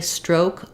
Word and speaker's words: stroke: I know of um for me stroke o is always going to be the O dip thong um so so um her her swimming stroke was very strong um he suffered a stroke last year um it's going to just have our o sound stro stroke um yeah I can't